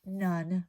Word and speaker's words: none: spelling, and it is none. Remember I said there's the word one written there, even though we don't pronounce it as one.